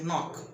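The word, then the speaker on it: know: আবার বলছে, ইংরেজি শব্দের শুরুতে কে-এন থাকলে কে-এন এর উচ্চারণ দন্তন্য হয়। যেমন কে-এন-ও-সি কে নক, যার অর্থ হচ্ছে কড়া নাড়া।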